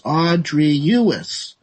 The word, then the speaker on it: Audrius: It's actually, you got to be careful pronouncing it. And it's Audrius, right? So the best way to